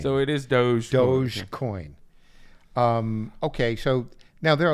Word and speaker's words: Dogecoin: So, but I'm told it's pronounced Dogecoin. So it is Dogecoin.